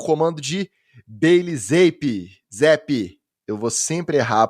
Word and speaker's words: Zappe: E os Patriots bateram os Browns por 38-15, sob o comando de Bailey Zappe. Eu vou sempre errar a pronúncia, é difícil. Vem de Zap. Bota vem de Zap que você não erra.